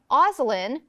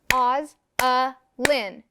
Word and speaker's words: Ozelin: So if I were studying my name, Ozelin, I would clap the beats. Oz-a-lin. I have 3 syllables in my name.